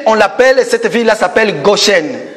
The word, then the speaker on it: Goshen: l'appelle, cette ville-là s'appelle Goshen. Il y en a qui disent Gosen, Gozen, vous savez le français, hein?